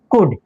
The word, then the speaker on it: could: এরকম আরো শব্দ আছে যেমন ধরো কুড, COULD, এটা COULD OULD আছে, তার মানে এখানে এল এর উচ্চারণ নাই, এটা উচ্চারণ কি দাইবো কুড।